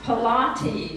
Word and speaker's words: Pilates: Until my unchurched heathen friend told me it had nothing to do with Pontius Pilate. True story, y'all. It's pronounced Pilates, she said with clear irritation.